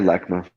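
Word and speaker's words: LACMA: love it now um do I say it right lakma or lakma yeah lakma lakma okay um now their involvement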